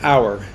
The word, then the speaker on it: hour: look at the word hour which is h hour so it's our our h and h is the eighth letter of the alphabet and and an h is silent so did you get